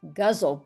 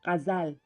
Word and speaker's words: ghazal: I've always heard it in India as gazle, but I don't think that's right. It's gazal. It's kazal.